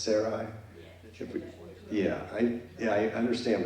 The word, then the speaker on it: Sarai: Sarai yeah is that I always wonder it's pronounced Sarai yeah I yeah I understand but they say sari and his nephew lot as they we enter